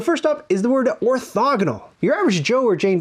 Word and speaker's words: orthogonal: i often hear the word mispronounced "orthAgonal"... that's probably because we say diAgonal, so they throw an "a" in there instead of an "o," but it's orthOgonal.